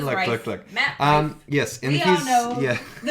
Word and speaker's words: Rife: I've heard different people who don't say Rife or idiots. I don't know. His name is Rife.